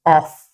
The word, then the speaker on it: of: It should be pronounced as of. So the F there is pronounced V. So OF is pronounced of, while OFF is pronounced off.